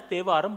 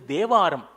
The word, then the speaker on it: Tevaram: It is pronounced as Teva, written as Tevaram, but its correct pronunciation is Devaram.